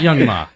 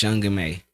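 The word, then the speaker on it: Young M.A: call her young Ma so it's not young ma no I mean well that's for I guess Bay Area people say young ma oh CU of a ma how she how she pronounced it or you know it's young may but that's one of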